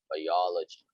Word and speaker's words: biology: biology yes biology but you have to stress the second syllable biology biology biology hello but geology